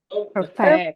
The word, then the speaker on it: perfect: Ini kalau adjectives juga stressnya occurs the first syllable. Misalnya absent. Ada apa lagi yang kedua kemudian? Perfect.